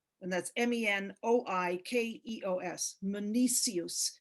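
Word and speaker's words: Menoikeos: and then we have meniscus and that's m-e-n-o-i-k-e-o-s meniscus it's another one of those ks that's pronounced as an s um and just do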